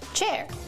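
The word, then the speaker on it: Qier: Hi, I'm Cher Wang spelled Q I E R pronounced chair.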